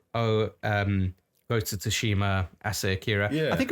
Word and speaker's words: Tsushima: days of Ghost of Tsushima. Yeah. At a time where the idea of a AAA game with the balls to release with a silent T was like blowing our minds.